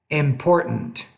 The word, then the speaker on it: important: is the glottal stop in American English we don't really pronounce that T in the middle we'll say Batman bitten important brightening Hatrack threatened so